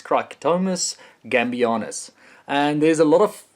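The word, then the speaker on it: Cricetomys gambianus: It's not that easy to pronounce Latin names, but it's Cricetomus gambianus.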